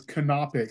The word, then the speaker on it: canopic: And we call the actual spelling is canopic, so Canopic, canopic jars, but everyone I've ever heard pronounces it Coptic.